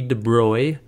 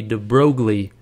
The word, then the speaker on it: de Broglie: named louis de bruy now it looks like you pronounce this louis de broglie and that's what i always said i always read this and i said de broglie in my mind and i knew that wasn't right if you look it up